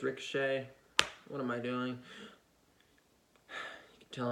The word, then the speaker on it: Ricochet: him become victorious over ricochet at SummerSlam but I think ricochet is gonna win I don't know why I'm pronouncing like Rico che it's ricochet what am i doing